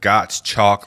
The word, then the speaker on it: Gottschalk: one and only Gottschalk. Did I say that right? You did. I saw in the description it said Gottschalk like got milk.